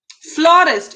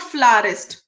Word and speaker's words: florist: फ्लोरिस्ट. इट्स नॉट फ्लारिस्ट, इट्स फ्लोरिस्ट.